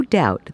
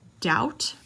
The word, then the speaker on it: doubt: it's a silent B another silent be in doubt doubt and a W is